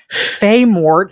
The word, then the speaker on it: Filemot: We said we got to pronounce this L. Sorry. Listen, we have a quot to fill. All right. There's only a certain number of silent L's that we're allowed to have.